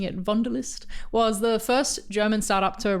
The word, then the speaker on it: Wunderlist: was started in 2018 by the co-founders of Wunderlist, including my guest today, Jan Martin. That's right, folks. We have a co-founder who was also a brand designer, which is very exciting for me. Wunderlist, or I guess I should be pronouncing it